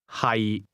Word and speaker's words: 係: 係 The difference is that to be is pronounced with a low, level tone, and to be located is pronounced with a mid-rising tone.